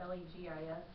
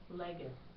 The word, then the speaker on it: legis: How do you say the L-E-G-I-S? Legis? Legis. Yeah. So it's not legis. Legis. Okay. And so G in classical is always going to be hard. And C in classical pronunciation is also always going to be hard.